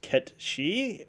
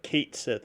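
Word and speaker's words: Cait Sith: He slightly is, but that's the way that everyone's been pronouncing his name. And if you see my moniker there, I use Gaelic, which is Ket Shi, which is what Kate Sith is based off of, which is a fey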